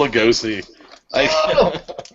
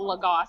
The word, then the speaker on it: Lagasse: Emerald Lugosi. You know what? I think you got it. I think you might have pronounced it a little bit hairy, but it's Emerald Lagasse.